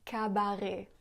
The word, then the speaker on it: cabaret: Elle prononce aussi cabaret au lieu de cabaret.